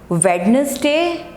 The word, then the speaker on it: Wednesday: Okay, Wednesday, people say it Wednesday. What are you doing on Wednesday? That's incorrect. It's not Wednesday. D is silent.